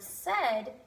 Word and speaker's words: said: are bed and said the word bed has an E and that is making the sound of short e and the word said you actually have the vowels a and I but they're making a short e sound yeah so the